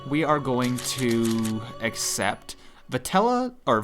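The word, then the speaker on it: Vetala: are going to accept patella or vittala I keep mispronouncing as it turns out I didn't notice there's an A in the middle but vittala was more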